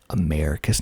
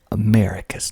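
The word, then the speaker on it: Americus: vadaya next we got americas and i think my refrigerator just came on and i keep forgetting to turn that off for some reason america's not america americas hog mountain hog mountain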